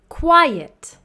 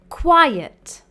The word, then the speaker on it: quiet: Quiet. There is a difference in pronunciation and spelling. Quite. Quiet.